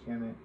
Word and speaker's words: Kemet: Ancient Egyptians referred to their homeland as Kemet, conventionally pronounced as Kemet.